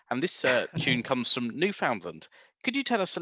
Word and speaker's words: Newfoundland: First of all, I'll do my friends from the rock a favor, and I'll tell you that it's pronounced Newfoundland.